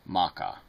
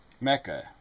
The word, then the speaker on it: Mecca: really are telling me you hear people pronounce it Maca I mean really Mecca I've never heard it pronounced anything other than Mecca I mean it's one